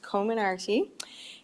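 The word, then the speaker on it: Comirnaty: their first dose of the pediatric phasor bioentech commonarty vaccine covid19 vaccine and somebody was asking me how to pronounce it the other day and uh and i actually looked it up and it is pronounced co-minardi and uh the name actually comes from several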